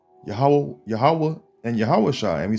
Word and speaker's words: Yahweh: And you can see it, See, it says Yohewah. When it really says, it just said Yahweh. That's how you say it, man.